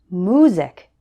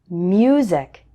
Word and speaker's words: music: Some English learners pronounce this word like music instead of music. Can you hear the difference? It also happens with uniform. Don't say uniform, say uniform. The letter U should be pronounced like U, not just oo.